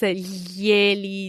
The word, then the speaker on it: glieli: pronunciare, so I would suggest our listeners practice glieli, gliela, glieli, gliele aloud so that they can familiarize with this tricky sound.